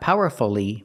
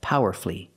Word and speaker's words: powerfully: expressed her opinions powerfully not powerfully but powerfully flee flee power flee three syllables she expressed her opinions